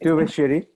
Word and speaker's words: Thuvassery: Priya uh, Thuvassery, if I pronounced it right. Thuvassery. It's Tu- always a difficult surname of a South Indian to pronounce, but it's Thuvassery.